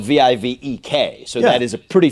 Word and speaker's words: Vivek: had you on the show I was saying vivec and everybody says vivec because it's just I don't know anglicized or whatever I would also say that's very fair because it is spelled v-i-v-e-k so that is a pretty phonetic pronunciation but